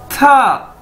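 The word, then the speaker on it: 他: तो दोस्तों, उसके बाद हमारे पास नेक्स्ट वर्ड है TA, था। ये आप इसकी ब्रैकेट्स में प्रोनाउंसिएशन देख सकते हैं, यानी इसको कैसे बोलना है, था।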